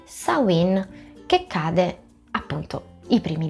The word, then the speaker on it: Samhain: Samhain è un termine gaelico, attualmente molti pagani lo pronunciano Samhain, così come si scrive, ma in gaelico si dovrebbe dire Samhain, ed è una delle due feste del fuoco originali.